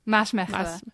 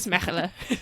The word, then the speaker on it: Maasmechelen: How do you pronounce it? Sorry. Maasmechelen. Yeah, it's hard. Maasmechelen.